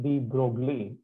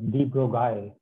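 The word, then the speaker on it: de Broglie: was Aristocrat so his his name is obviously not pronounced B Broly that's how um ignorant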